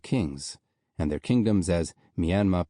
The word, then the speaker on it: Myanmar: country in English to Myanmar. The final R was meant to lengthen the vowel as it would when spoken in the southeast of England and not be pronounced.